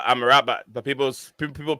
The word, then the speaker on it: Amrabat: it the right pronunciation is it amrabat or I'm a rabbit I'm a rabbit yeah it's uh I'm a rabbit but people's people pronounce